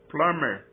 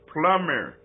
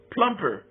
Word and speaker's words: plumber: is uh is is kind of Silent it's plumber plumber the bee is Silent kenyons not only not only pronounce the be but they pronounce it like a like a pee plumper the plumper the plum I you know let